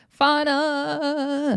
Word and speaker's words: Fauna: But it's just funny cuz Russian Cream is talking about how Elsk got jumped off camera and Russian Cream says FA. It's Fauna. Fauna.